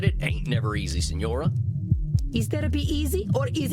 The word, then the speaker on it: Signora: Then say it properly. Signora. Say it.